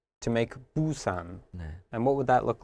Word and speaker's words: Busan: this one okay so instead of the first syllable being ooh we've changed it to boo and if you'll notice only one thing has changed the top consonant here so instead of giving us we have more of a b sound boo okay and the second